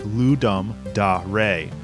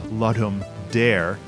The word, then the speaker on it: Ludum Dare: The name is Latin for to give a game, and the Latin pronunciation sounds like Ludum Dare. However, it often ends up being pronounced as Ludum Dare, since dare is also an English word.